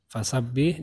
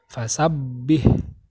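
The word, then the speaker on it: فسبح: tidak ditahan coba perhatikan huruf ba yang bertasydid fasabbih dan robbika Mbak yang bertasydid bacanya fasabbih fasabbih bihamdi rabbika robika begitu ditekan dan juga tidak ditahan hai oke Sebelum kita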